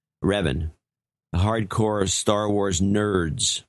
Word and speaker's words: Revan: Rio and Ryan rhymes with Kevin. Revan.